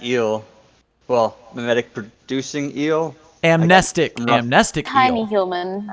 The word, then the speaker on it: amnestic: It should be amnestic. It's adapted from the word amnesia, so I say amnestic instead, but it should technically, from its spelling, be amnestic.